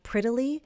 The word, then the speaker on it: prettily: Just like glittery, we have prettily. In American English, that double t is going to change to a flap t. So in your mind, think of it as a d.